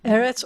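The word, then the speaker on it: ארץ: have a segolate um the first syllable is always the accented syllable of the two as so eretz and they're going to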